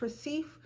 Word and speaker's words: Recife: Brazil, in the Recife, I think it's called, pronounced Recife.